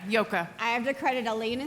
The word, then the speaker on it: Joke: okay you did yeah it's spelled j o k which was a difficult name to immigrate to the United States with but uh it's a very Dutch name yeah yoka I have to credit